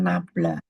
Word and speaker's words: nabla: ya gradien F itu yang disimbolkan dengan ee ini bacanya nabla F gitu ya Nah nabla